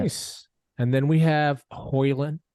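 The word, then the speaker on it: Højlund: And then we have Hoyland. Hoyland. So like the D is silent. He came out and talked to the press about it. And D is silent. So Hoyland.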